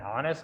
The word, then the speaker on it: honest: Do we pronounce along with the H sound? Honesty. It's a silent word. When you pronounce them, you must pronounce say silencing this or omitting this H sound. It should be omitted.